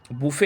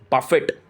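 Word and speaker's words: buffet: यह वर्ड आया है बुफे आया है साइड बोर्ड से बफेट this is actually called बफे नॉट बुफे इट्स अ बफे ठीक है इट्स a French word T is silent तो बफे ठीक है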